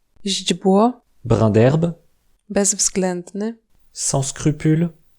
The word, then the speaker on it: źdźbło: Si le polonais a la réputation d'être difficile à prononcer, c'est aussi à cause de ses suites de consonnes parfois impressionnantes. Źdźbło, Brin d'herbe, bezwzględny.